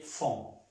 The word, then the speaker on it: font: Ils, elles font. Font. La E y la N y la T no se pronuncian.